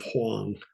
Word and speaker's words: Huang: And don't be confused if I sometimes call Wang instead of Huang. In Mandarin, his name was Huang, as in Huang Se, yellow color, or Huang Di. But his native language was Cantonese.